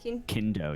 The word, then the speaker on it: Kindo: am i saying it right reign of kingdom kendo yes k-i-n-d-o you got it the reign of